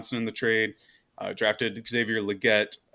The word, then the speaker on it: Legette: trade uh drafted Xavier Legette uh or liette I believe is how it's pronounced both are they're capable